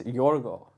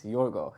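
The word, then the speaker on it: Yorgos: exception speeches is it's yoro it's yoro there's no s oh there we go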